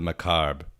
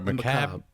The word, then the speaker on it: macabre: Yeah, but then Violet's also pulled to that basement because she likes the macabre. Or macabre. Macabre. She likes the macabre. The R is silent.